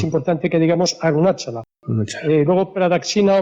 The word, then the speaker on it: Pradakshina: me perdone la pronunciación, Pradaksina. Y bueno, Pedro, ¿es así o no es así? Te contestaré sí, se llama Pradaksina. Sí.